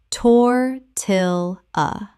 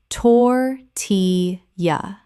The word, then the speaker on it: tortilla: manga manga Word 203: tortilla Common mispronunciation: tor-til-a Correct pronunciation: tor-ti-ya Three syllables with the L L making a Y sound as in Spanish.